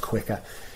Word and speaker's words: Quiqr: So it's Quiqr, so with a QR in the title. I think it's pronounced Quicker.